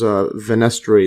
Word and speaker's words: fenestrae: I'll just search how this pronounces. Alright. And let's see this one. Fenestra. Goes back to the fenestra. So, venestri. Yeah, so I just had to Google this one. So this is venestri.